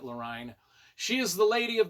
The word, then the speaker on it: Lorine: Lorraine, I think it's Lorine. L O R I N E. Line. I don't know. I was pronouncing it lurine.